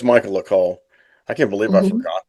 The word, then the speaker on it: Coel: Okay, her name is spelled Michaelae. Michaela. Yeah. Michaela, what's the last name? Michaela. Go ahead. Yep. Coel. Cole. Yeah, cool. So it's Michaela Cole.